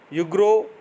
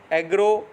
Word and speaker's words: UGRO: Stock जो चल रहा है अभी यहाँ पर युग्रो, या आप यहाँ पर एग्रो ऐसे नाम से भी प्रोनाउंस कर सकते हैं इसको, एग्रो कैपिटल ऐसा भी हम कह सकते हैं, या युग्रो भी कह सकते हो, आपकी मर्ज़ी रहेगी।